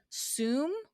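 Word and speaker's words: Soom: from a company i believe pronounced sum s-o-o-m is that how you would pronounce it jason assume yes that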